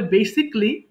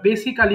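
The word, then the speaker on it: basically: তাহলে বেসিকলি আবার দেখেন বেসিক্যালি বলি আমরা একটু বলে দিচ্ছি এর উচ্চারণ হবে বেসিকলি বেসিকলি আমরা বেসিক্যালি বলি এটা ভুল করে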